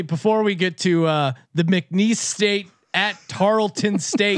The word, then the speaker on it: McNeese: McKinney's? How do you pronounce it, Colby? McNeese.